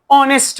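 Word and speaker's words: honest: ही is dash ऑनेस्ट मैन। इससे पहले जब मैं क्वेश्चन का स्टेटमेंट लिख रहा था तो मैंने आपको क्या बता दिया कि एच is silent. He इज ऑनेस्ट इनओनेस्ट अ ऑनेस्ट या द ऑनेस्ट।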